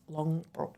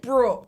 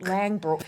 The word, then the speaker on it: Langbroek: people, and finances with Julia Morris and Kate Langbroek. Did I pronounce that correctly? Alex, you fumbled the ball at the first. I meant to Google it. Langbroek. Langbroek, Dutch, right?